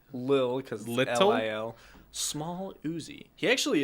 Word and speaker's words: Lil: of a little uzi i just said little uzi lil it's pronounced lil because small uzi he